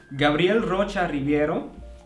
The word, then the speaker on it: Gabriel Rocha Ribeiro: Can you pronounce it right? Let's have a look. Gabriel Rocha Ribeiro.